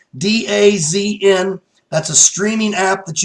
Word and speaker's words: DAZN: DAZN is DAZN. So it doesn't look like it's spelled, so the phonics are a little different, but it's DAZN.